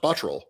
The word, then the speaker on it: Botterill: We had Jason Botterill with the Sabres, and he would tell you his name is pronounced Botterill.